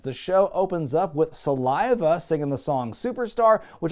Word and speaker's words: Saliva: the DJ on the rock station called them Saliva, and then after the song was over he corrected himself and said, oh my bad, it's actually Saliva.